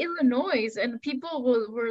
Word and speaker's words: Illinois: I've lived in Illinois. Wait a second. You say Illinois and people were like telling me, oh, it's Illinois.